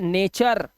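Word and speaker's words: nature: इसी तरह से टी के बाद यू आर ई है तो ये नेचर।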